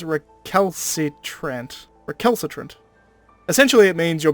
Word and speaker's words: recalcitrant: It's a hard C first, a soft C second, I'm 90% sure.